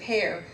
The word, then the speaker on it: Hare: And I was mentioning earlier that Christian Hare wanted people to pronounce it hair.